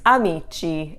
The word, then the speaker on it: amici: you make amiko plural becomes amici and you don't add the h that is one of